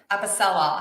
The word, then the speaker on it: Apicella: with me this afternoon mr stephen at pacelle episella hopefully i pronounce that correctly you got it okay finally